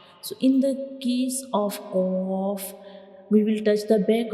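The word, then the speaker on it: قاف: dots upon it, and qaf is a bold letter, so we will read it with heavy sound. When we pronounce qaf, the sound remains into the mouth, it doesn't spills out. So this is the pronunciation of qaf. We read it like qaf. And when we pronounce qaf, the very back part of the tongue touches the soft palate.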